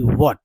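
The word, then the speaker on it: what: तो यह व्हाट जो है एक तो पहला समझिए कि व्हाट जो है व्हाट इसमें एच आता नहीं है। एच जो है यह साइलेंट होता है। ठीक है? क्या होता है? एच साइलेंट होता है। ठीक है? एच जो है साइलेंट।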